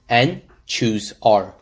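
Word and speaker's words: n choose r: you can see on the right which is pronounced and choose r let's solve the original problem we have to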